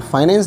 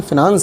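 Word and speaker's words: finance: तो फाइनेंस नहीं, actually फिनांस है।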